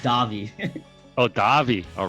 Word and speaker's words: Davy: It's actually pronounced Davy.